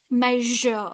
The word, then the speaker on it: measure: You should not pronounce like me, pleaser, vener. No, it's like measure, measure, sound.